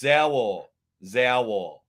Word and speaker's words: Zaur: Well, I call him Zaur because it looks like dinosaur. So I call him Zaur is pronounced Zaur.